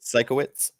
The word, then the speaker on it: Sienkiewicz: I'll say Sienkiewicz is how I'll pronounce it. Sikowitz. There you go. That'll work too.